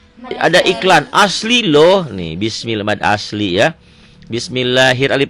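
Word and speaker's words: بِسْمِ اللهِ: bawah konsentrasi inih ya Kalau sebelum dapat Allah baris di bawah tipis bismillah lnya panjanganjang Iya panjang teh nama namanya apa tadi ada iklan asli loh nih bismillah mad asli ya Bismillahir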